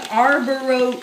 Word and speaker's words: Arborio: I just know this no G no arboro arboro it's this rice I always thought it was called Arbor there's no je there's no Chee I know but that's